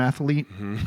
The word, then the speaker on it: athlete: Um, which is probably why I was an excellent athlete. Did I just have a third syllable in that word? I said athlete. Well, it's it's a little bit fancier that way, I think, because it was a it was a private school.